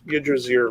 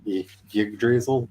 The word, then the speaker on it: Yggdrasil: Yggdrasil? Yggdrasil. I know, I say it wrong. Yggdrasil? Yggdrasil. There are a couple, like, technically right ways to say it, and you didn't use any of them.